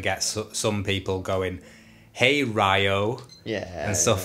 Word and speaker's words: Ryo: some people going, "Hey Ryo," and stuff like that. But you can tell that they've been like, "No, it's pronounced Rio.